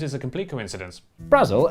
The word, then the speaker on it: Brasil: Brazil, as it's probably pronounced, is an enchanted island